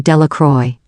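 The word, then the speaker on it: Delacroix: Jones and Dicky dequa the villagers pronounced this name delacroy eventually made a great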